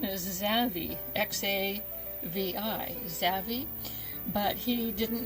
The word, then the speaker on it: Xavi: little boy, he did not know how to pronounce his name. His name is Xavi, X-A-V-I, Xavi.